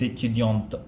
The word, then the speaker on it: étudiantes: It's actually les étudiantes. Okay, if you pronounce the les, L-E-S, les étudiantes, and you pronounce the last T, which means it is feminine, and the les makes it plural.